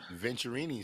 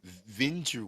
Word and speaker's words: Venturini: Venturini, so it's not Venture.